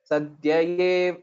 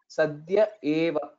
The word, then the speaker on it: Sadhya Eva: Okay, there is a clear difference or distinction between A and A. Sadhyayeva. It's a subtle difference if you can notice it, that the correct pronunciation here is Sadhya Eva, Eva.